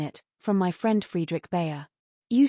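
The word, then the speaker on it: Bhaer: It isn't pronounced either bear or beer as people will say it, but something between the two as only Germans can give it.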